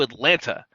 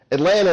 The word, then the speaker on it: Atlanta: you and demands he help her get to Atlanta so she can give doctors there the information